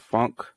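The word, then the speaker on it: phonk: listening to this genre called funk it's spelled p-h-p-h-o-n-k um if you look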